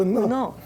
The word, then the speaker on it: 은어: 그러면 언어 아니고 은어. 예, 제가 발음 잘 안 됩니다.